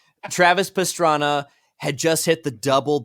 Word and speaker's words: Pastrana: just hit the trouble yeah pastrami sorry that's just me being an American and mispronouncing his Italian last name Travis Pastrana had just hit the